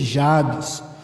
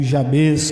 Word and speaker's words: Jabez: Ó Deus, em nome de Jesus, que nós possamos olhar para a vida de Jabes, ou Jabez, como alguns assim pronunciam, e extrair aplicações para as nossas vidas.